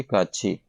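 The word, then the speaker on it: 같이: यानी वादन के साथ काछी इसको काथ स्पेलिंग है लेकिन प्रोसन इसकी क्या है जी काछी जब भी थत के बाद ई आए और कोई वर्ण नहीं सिर्फ ई आएगा तो यह थत जो है यह यत की आवाज देगा तो प्रोनाउंस क्या किया जाएगा इसको ी काछी टूगेदर इकट्ठे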